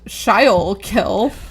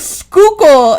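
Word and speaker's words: Schuylkill: I also grew up seeing signs for the river for the river around Philadelphia that I thought were pronounced shy kill because it was s c h u y l k i l l. And it was not until adulthood that I realized skookal expressway and the shykill river are the same word.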